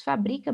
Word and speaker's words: fabrica: Fabrica, fabrica, olha o verbo fabricar. Então, aqui a sílaba tônica é o bri. Então, a paroxítona terminada em A, e a gente sabe que as paroxítonas terminadas em A não são acentuadas.